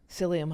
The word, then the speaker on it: psyllium: lots of sauerkraut and uh but is it pronounced psyllium husk? Psyllium husk.